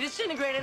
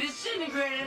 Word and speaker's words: disintegrate: Jesus Christ, Doc, you disintegrated Einstein! You disintegrated Einstein! So it's not disintegrate, it's disintegrate. It reduces from 4 to just 3 syllables, and the first T sound disappears.